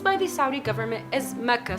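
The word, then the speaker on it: Makkah: First fact on this list has to do with Mecca's etymology and usage.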